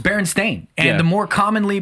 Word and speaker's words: Berenstain: the mandela effect and one of the more well-known mandela effects are the berenstein bears berenstain berenstein berenstain it's berenstein this is baron's thing what